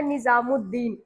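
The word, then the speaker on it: نظام الدین: जैसे में जैसे में आपको लिखना है निजामुद्दीन। अगर निजामुद्दीन आप लोग लिखे होंगे या पढ़े होंगे तो आपको पता होगा कि वहां पर अलीिफ और लाम दोनों साइलेंट हो जाता है।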